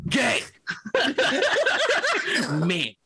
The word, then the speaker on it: Gaming: Say how it's spelled. Gaming. Gay. Ming. Gaming.